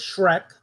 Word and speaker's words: Schreck: And the author of the book is Nicholas Schreck. Like Shrek, but it's spelled differently.